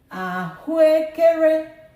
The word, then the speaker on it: ahụekere: Ahụekere, ahụekere. This one has 4 syllables. A, O, E, E, E. So, however, we have 2 syllables together and they practically have the same sound. When we speak, when you're talking or you're speaking on the street, we don't drag this. We say them together somehow.